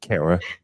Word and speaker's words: Kara: Don't you be laughing at me, Kara, rhymes with Sarah.